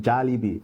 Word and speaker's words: Jollibee: It is pronounced Jollibee.